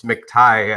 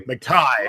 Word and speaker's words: McTighe: It's commonly mispronounced throughout my life. So you were very close. It's McTighe, actually. McTighe.